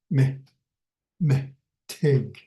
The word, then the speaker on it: mitig: Okay, next one is mitig. Mitig. So me and then tig. So that's how I spell it. This is the way I sound. I hear the syllables and me tig.